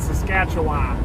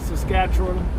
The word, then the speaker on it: Saskatchewan: but they taught us to say Appalachians and Saskatchewan. But then as I went to those places, I realized that it's actually Saskatchewan and Appalachians.